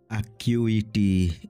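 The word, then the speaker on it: acuity: ডি ই আকোলেড আকুলেড কু ওড়িয়ারে সম্মান কুহন্তি আকিউইটি এ সি ইউ আই টি ওয়াই আকিউইটি আকিউইটি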